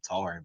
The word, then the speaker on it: Natarian: Natarian Hampton's how you say his name. You know the guy? We call him Tarian, but I think it's Natarian Hill.